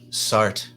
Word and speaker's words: Sartre: I believe French pronounce it Sartre.